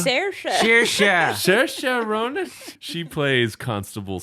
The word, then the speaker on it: Saoirse: And then this is a tough name to pronounce. Maybe you guys know it. Sais Ronan? Do you know? Saoirse.